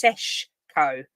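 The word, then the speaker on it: Šeško: Well, for me, I'd go I don't think it's spelled Sesko, but I think it's Seshko.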